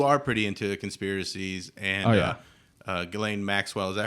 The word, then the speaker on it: Ghislaine: So you are pretty into conspiracies, and Ghislaine Maxwell, is that how you say it?